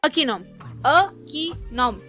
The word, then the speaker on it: Akinom: एक सिंपल सी स्पेलिंग है, 3 सिलेबल का वर्ड है, एक आई तो साइलेंट भी है। अकीनॉम।